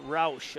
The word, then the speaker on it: Roush: And the hammer, Tanith Routh, back in the front row. Tanith Roush. I said her name wrong.